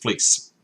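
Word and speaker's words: Vlies: have the 380 belies pronounced by the Germans fleece the lease so VL IES and this is a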